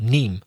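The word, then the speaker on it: Nîmes: of niem n-i-m-e-s although the s of course is not pronounced in french so neem so de nim that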